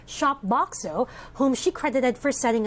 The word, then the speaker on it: Shopboxo: Okay, did I pronounce that right? Shopboxo? And why the name? Yeah, that's correct.